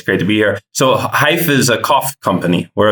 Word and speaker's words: Hyfe: He is the co-founder and CEO of Hyfe, as in like rhymes with life. It's spelled Hyfe, and it's a smartphone app.